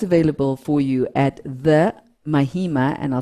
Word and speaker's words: Mahima: for you at the mahima and i'll spell that m-i-h-i i always say it's mama with a hi in it yeah so the mahima